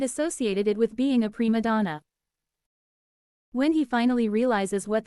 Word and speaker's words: prima donna: He tries to institute a new policy in the office called prima donna. But he pronounces it prima pima donna.